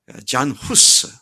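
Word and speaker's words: Jan Hus: 그의 영향을 받은 프라하의 잔 후스, 얀 후스라고도 말하고 또 발음에 따라서 나라마다 좀 다른데 얀 후스 또는 잔 후스라고, 존, 요한, 그런 말이죠.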